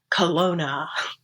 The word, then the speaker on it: Kelowna: And I realized it's the W that was tripping me up.